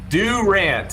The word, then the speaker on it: Durant: Durant is how real Okies pronounce it.